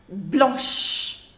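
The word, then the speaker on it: blancs: So it becomes blanc, blanche. Blanc, blanche. Now masculine singular we will use to make masculine plural. You will put an S to make it plural, but the pronunciation will not change.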